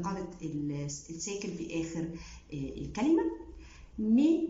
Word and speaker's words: mes: مي ما نطقتهاش ميز، نطقتها مي، الاس مستثنى في النطق في اخر الكلمه لانه حرف ساكن.